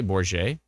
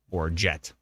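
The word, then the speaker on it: Bourget: through this previous years did I say bour I did didn't I trying to pronounce it with like a like a frenchish accent and it turns out it's Bor jet the least French sounding jet Bor jet um Jen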